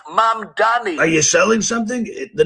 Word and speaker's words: Mamdani: What This is New York City Mayor Zoran Mamdani, pronounced Mamdani.